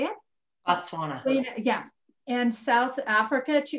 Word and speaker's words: Botswana: retreat presenter and president heather has traveled to bosweina is that how you say it botswana yeah and south africa to interview and collect